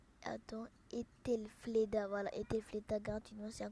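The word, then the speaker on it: Aethelflaed: Alors là, ce qui se passe, c'est que dès que tu entres, tu auras Ethelfreda gratuitement. Attends, je vais regarder comment on prononce. Attends, Ethelfleda, voilà, Ethelfleda gratuitement, c'est un commandant légendaire qui est bien.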